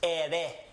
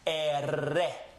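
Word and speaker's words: erre: The next letter is the rolling R. You don't have to roll your R's to be able to speak Spanish. You can just drag the R out and people will understand you perfectly fine. But the correct way is to roll the R, or simply vibrate the tongue. The first letter was ere. This letter is ere. Ere.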